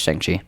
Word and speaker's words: Shang-Chi: Chick? No, it's Shang-Chi.